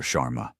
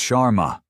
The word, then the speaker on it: Sharma: Chararma." He butchers the pronunciation of her name. Another small deliberate cut. "It's Sharma."